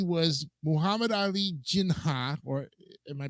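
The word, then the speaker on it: Jinnah: to Gianni uh what P was Muhammad Ali jinha or am I pronouncing that right yes okay the first governor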